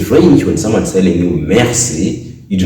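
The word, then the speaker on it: merci: thank you thank you in french you say mercy mercy mercy you know that in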